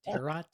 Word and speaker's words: tarot: why do you have tarot cards I I also have a question by the way not a commercial yeah and by the way it's pronounced terot I have queer tarot